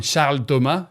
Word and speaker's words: Charles Thomas: it was started by charles thomas frenchman you can also call him charltoma if you would like to say it correctly now charles built a